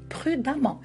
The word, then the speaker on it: prudemment: dans les exemples prudent alors attention comment on va prononcer prudent on écrit E 2 e nt e et on va prononcer a prudent prudemment ce qui fait il faut faire attention quand qu on écrit comme on on écrit on dit prudemment donc beaucoup de personnes